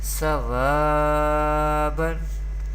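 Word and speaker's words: صوابا: Here Sod is belong to Mustalia letters, Mustalia family, and we pronounce it always with thicker voice in every condition, and there is zabar before vaw sakin. This is vaw madda. Vaw madda rule is happening here, and we know that we pronounce vaw madda letters vaw madda up to by stretching up to one alif or two harakat, and ba has tanween do zabar, so we pronounce sawaban.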